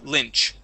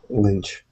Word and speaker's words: lynch: word Lynch okay um instead of Lynch Le it's Li short I Lynch Lynch there you go good